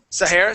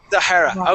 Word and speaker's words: Zahara: yeah yeah because you you are pronouncing my name wrong so I think Z Sor Zahara okay there we go